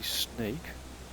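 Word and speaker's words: Sneek: And then this is probably Snake. That's not like the animal, but Sierra November Echo Echo Kilo. A double echo in the Netherlands is pronounced as A.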